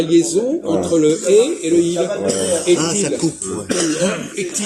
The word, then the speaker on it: il est: Quelle est la règle qui fait que EST, ça se dit est? Comme ET.